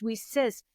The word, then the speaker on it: WiCyS: star acronym wicys is pronounced we sis like we sisters I was like this